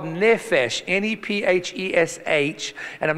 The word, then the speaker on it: nephesh: It's a word called nephesh, N-E-P-H-E-S-H, and I'm not going to spell it again.